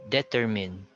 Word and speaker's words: determine: muo it's determined so usually people commit mistakes here because of the stress they say determine which is wrong this is a commonly heard uh word especially during student reporting but it's determined the stress is on the second uh syllable we also have this